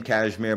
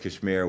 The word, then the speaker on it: KSHMR: um it's just U my name cashmir but it's spelled kshmr so it's just it's just Kashmir without the vowels ksh Shar you know